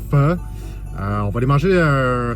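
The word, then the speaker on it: phở: Donc ça s'écrit PH. Prononce pas faux mais bien feu.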